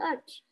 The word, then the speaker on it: ache: Tony has priced chocolate ice creams on Sundays, and then he has a terrible stomach ache. Ache. It's like a K.